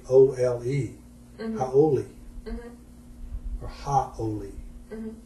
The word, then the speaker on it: haole: Now we pronounce it in English today as like Howlee or Ley, howley. But in ancient Hawaiian, the word was actually Haole, haole, or haole, right?